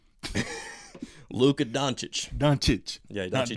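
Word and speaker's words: Dončić: Luka Doncic.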